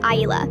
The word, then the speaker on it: Isla: My daughter's name is Isla, pronounced eye-la. It's not that hard.